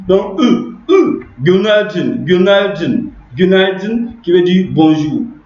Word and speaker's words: Günaydın: Le CI là, c'est pas un vrai I, c'est pas Gunay Din. On le prononce entre cette lettre, elle est prononcée comme voilà, jaune comme ça. Voilà. Cette lettre là, elle se prononce entre le I et le U.